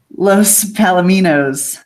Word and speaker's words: Los Palominos: Los Palominos. That's it. All right, thank you. Los Palominos. I got to remember my Spanish pronunciation.